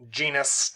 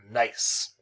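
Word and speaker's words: gneiss: so it's some nice that's how it's pronounced not genus not genesis nice so here's some outcrop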